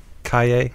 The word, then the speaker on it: Calle: heard of the paper right it's and look Calle or do that so you said it right